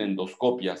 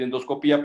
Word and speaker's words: endoscopia: Los españoles directamente en castellano dicen endoscopia, si quieren ustedes saber, porque no lleva acento. Nosotros acostumbramos a decir endoscopía, pero no acostumbramos a acentuarlos. Curiosamente hay que ponerle tilde si queremos nosotros pronunciarlo así.